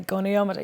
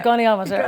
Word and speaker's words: goniometer: I had to actually press pronunciation on Google to say goniometer. Yes, a goniometer.